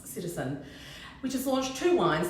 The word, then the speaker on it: CTZN: vintage has a new brand ctzn which I think I meant to pronounce citizen which has launched two